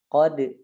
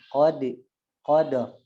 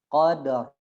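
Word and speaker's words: قدر: Jadi bacanya jangan qad ya, qadar. Ra-nya ditaruh di belakang gusi ya. Sempurnakan dulu qalqalahnya qadar. Menjadi langsung ditarik ke ra. Ra qadar. Qadar gitu bacanya. Enggak boleh bacanya qad atau enggak qadar. Maju bibirnya. Salah ya.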